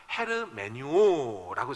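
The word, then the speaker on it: ἑρμηνεύω: 이란 단어를 좀 보시면 헤르 메뉴 오라고 저렇게 발음을 합니다 내 이 단어에서 나온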